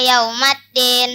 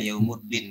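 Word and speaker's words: يَوْمَ الدِّين: Yaslaunaha yaumaddin. Ya, oke, udah betul. Ya, tadi yang salah ya, yaumuddin baca tadi.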